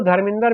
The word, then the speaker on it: धर्मेंद्र: तो आप यूं समझिए, कभी भी पंजाबी जो सही प्रोनाउंसिएशन करता है वो धर्मेंद्र नहीं कहता, वो कहेगा धर्मिंदर। वो इसी वजह से, क्योंकि ये द्र जो है ये उनके गुरुमुखी लिपि में संयुक्ताक्षर होता ही नहीं है।